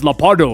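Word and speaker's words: Leopardon: I don't think they say the N in the actual show.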